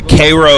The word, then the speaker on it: Cairo: we have CU Missouri there's a Koo Illinois which is spelled like Cairo but they they call it Koo cuz they hate the East there's like a ver